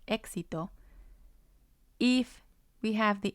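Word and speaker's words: éxito: what sound to use if a vowel comes before the x it most likely has the x sound like exito if we have the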